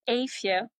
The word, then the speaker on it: Eefje: It's a really Dutch name. It's Aia. Aia, is that fine? Exactly. That's perfect. Yeah, perfect. Great. Aia, how was your dinner?